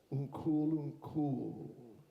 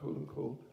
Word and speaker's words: unkul: Their name for God is unkul. Так звуть його Господа, яке називають таким Ункул. Not unkul, but unkul. Got to put the emphasis on the last syllable.